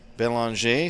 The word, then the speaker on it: Belanger: blue line before Gavin Belanger, spelled Belanger. It is a French pronunciation.